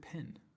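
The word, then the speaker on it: Pène: Chapter 1, or is it Pen? Pen. Must be Pen. It's not pronounced Penne.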